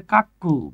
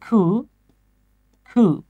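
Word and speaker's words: cuckoo: or sweetly as আ অনেকে এটার উচ্চারণ করে কাক্কু বাবারে এটা কাক্কুও না চাচ্চুও না এটার উচ্চারণ হচ্ছে খু খু আর আমরা ডাকি কাক্কু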